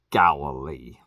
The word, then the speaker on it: Galilee: Galilee. Galilee. I know that word. Why did y'all spell it like that?